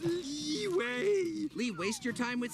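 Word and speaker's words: Liyue: __ ] up or it's pronounced leeway Lee waste your time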